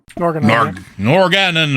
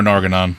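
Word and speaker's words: Norgannon: Norganon? Norganon or Norganon. Either one is acceptable.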